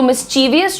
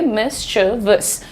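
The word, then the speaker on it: mischievous: तो मिसवियस छोड़िए मिसवस मिसवस ओ ही is pretty मिसवियस या ओ यो यंग बॉय इज़ प्रीटी मिस्टबस काफी शरारती बच्चा है। सो मिस्टवस ऐसे मिसवस मिसवस। अब आज से मिसवियस नहीं बोलना।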